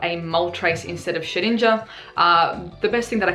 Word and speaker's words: Shedinja: well we are seeing shedinja I know I keep saying shed ninja orsha ninja or it doesn't really matter sorry actually it does matter I get tilted